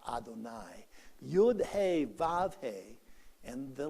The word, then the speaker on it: Adonai: you'd hey vav hey that of course is the name that we have for god that we pronounce adonai you'd hey and the letters add up to 26.